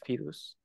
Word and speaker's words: fidus: what's good about fedus this is how I pronunciate fidus is that somehow you know that fidus is